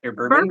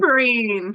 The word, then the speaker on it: berberine: Bourbon? Berberine.